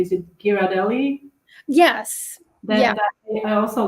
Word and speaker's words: Ghirardelli: they often have um I hope I'm gonna pronounce it correctly is it Ghirardelli yes yeah I also like like dipping chocolate